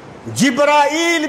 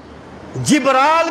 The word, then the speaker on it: جبریل: حقیقت کیا ہے۔ دیکھیں ایک لفظ کے کئی تلفظ ہوتے ہیں، جیسے جبریل تلفظ ہے، جبرائیل بھی اسی کا ایک تلفظ ہے، جبرال بھی اسی کا ایک